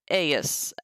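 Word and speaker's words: eius: in a few cases, the genitive singular aeus is pronounced aeus, as I just said. So it's not aeus. It's not ius. It's not ius. It's aeus. Just because of the particular form of this word.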